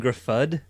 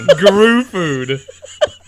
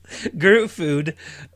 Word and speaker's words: Gruffudd: Eon Gruffudd. That can't be right. That's not how you say his name at all, Brent. Gruffudd. Oh, honey. Guru food. Gruffudd.